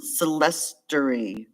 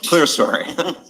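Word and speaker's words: clerestory: might be some of those they call them celester or clester Windows Chester story that's not how it's spelled I'll go with you guys I take a pill for my cholesterol oh no clear story but anyway so you know they're going to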